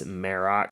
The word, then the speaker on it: Marrok: Number 7, Marok speaks. So we've all been saying his name wrong for the most part. We finally got some clarification on that. It's Marok, and he actually spoke a few times in the episode.